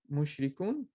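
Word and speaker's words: مشركون: When you stop, you don't have to pronounce the end haraka, but be careful to make this one long. Mushrikun.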